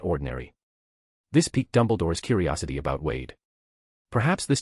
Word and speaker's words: Dumbledore: Wade purposely mispronounced Dumbledore's name because Mrs. Cole had made the same mistake when she introduced him earlier. Dumbledore helplessly corrected him. Actually, my name is Dumbledore.